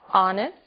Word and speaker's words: honest: O som do H. pronunciado desde a garganta como em hotel e mudo em 3 casos. Our, honest, honor.